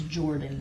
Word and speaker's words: Jordyn: Her name is Jackie, and gosh, I don't know their last names, but her daughter's name is Jordan. It's spelled Jordyn.